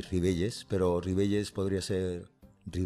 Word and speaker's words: Ribelles: yo soy y ribelles pero rivelles podría ser mi bella final que se pronunciaría parecieron y la ll es como la calle normal castellana en castellano que aquí en asturias